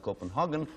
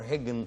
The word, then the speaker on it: Copenhagen: It is a port, and of course the capital of Denmark, and pronounced Copenhagen or Hagen, depending on your national persuasion, I suppose.